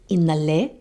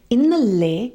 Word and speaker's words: ഇന്നലെ: And it's important to study the pronunciation because in Manglish, it may look like innale and nale are pronounced the same way because they have N-A-L-E. But this is why it's important to know how to read or understand the differences, because innale is with the front L.